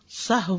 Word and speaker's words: سہو: کا فعل بھی ہے۔ سہو ہوتا ہے، سہو نہیں ہوتا، سب لوگ اپنا تلفظ بھی درست کر لیں۔ سہو جیسے لغو، ٹھیک ہے، کرب، نفس، سہو۔ سجدہ سہو کے اسباب،